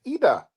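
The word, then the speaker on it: Idah: But it's Ida. Paul, you mean right? Paul means to pull me up about pronouncing Big Adam Ida's name wrong on the podcast. That's no Ida.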